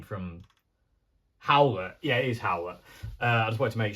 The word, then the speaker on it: Howlett: Anyway, while I'm here, how do I pronounce the guy's name from Howlett? Yeah, it is Howlett.